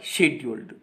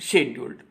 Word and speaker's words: schedule: See here, for example, how do you pronounce the word scheduled? We are going to say it scheduled. Now we begin with a sh sound, sh, and say schedule. We are not going to say schedule.